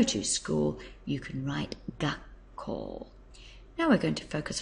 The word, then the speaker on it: 学校: but you'll notice that when you put them together it becomes gak and that's simply because it's quite hard to actually say gaku gaku gak very tricky so they abbreviate it to make it easier to say and it becomes gak call and the actual meaning